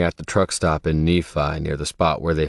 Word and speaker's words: Nephi: When I had first heard it pronounced, I thought of the giant and Jack and the Beantock yelling from his castle in the heavens. Fifi faux f I smell the blood of an Englishman. Fifi rhymes with Nephi.